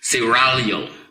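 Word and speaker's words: Seraglio: who was a guard sarah pronounce it say rallio gotta roll the town excuse me siralio that's the original name of the painting the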